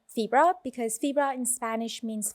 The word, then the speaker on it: Fibra: so first of all febra rhymes with zebra yeah and then if